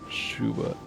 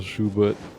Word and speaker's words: Schubert: a funny day because it's spelt like s-c-h-u-b-e-r-t so there's like 10 letters that don't need to be there well because i think